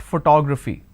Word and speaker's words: photography: the word photography here it's actually pronounced that photography now how many consonants